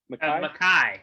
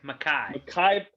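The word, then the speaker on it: Mekhi: can this offensive line how do you say it by the way mekki bechten makai makai okay makai beckton's legit right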